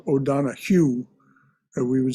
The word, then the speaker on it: O'Donohue: O'Donohue, by the way, is spelled O'Donohue, as we would say in English, but in Irish it's pronounced O'Donohue.